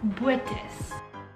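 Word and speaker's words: Botes: I'm from Dutch, and the way you pronounce my surname is Buetas.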